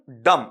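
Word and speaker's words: dumb: रही है ना कम डम डम नहीं है ये बी साइलेंट है बेटा आपका इसका जब तुम फनेटिक बनाओगे ना तो वो इतना ही बनेगा डम डम बे नहीं बोलेगा आपका वहां पर कम डम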